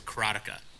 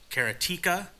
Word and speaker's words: Karateka: I pronounce it, and I've always pronounced it, and you're going to hear me say this all the time, is Karateka. But then I've heard people say Karateka, Karateka.